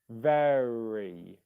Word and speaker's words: very: the word very so in the word very the ve is stressed that's the stressed syllable you've got the r